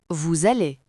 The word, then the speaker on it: vous allez: Le verbe est vous allez.